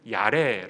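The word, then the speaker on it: יראה: 어울리지는 않 아 요 히브리어로 경우에는 야 래 라고 부릅니다 아래 약간 이제 좀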